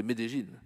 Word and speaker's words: Medellín: Églises, sans oublier l'archevêque de Medellín, il faut prononcer Medellín, qui est en communion avec nous.